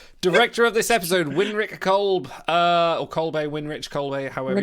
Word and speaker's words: Kolbe: Director of this episode, Winrich Kolb, or Kolbe, Winrich Kolbe, however you pronounce it. Kolbe, yeah.